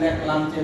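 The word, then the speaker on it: Leclanché: ठीक है, वो जो हम लोग सेल यूज करते हैं ना, उसको बोलते हैं लेक्लांचे सेल। लेक्लांचे, लांचेस, ये पहला एग्जाम्पल हुआ। लेक लांचेस स्पेलिंग है ना, लेक लांचेस है LEC, कैच नहीं, लेक लांचेस, ठीक है ना।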